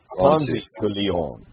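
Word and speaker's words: Ponce de León: And you pronounce Ponzi, by the way. Ponzi de Leon.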